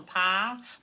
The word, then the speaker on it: Pyle: Pile. Pie rhymes with foul.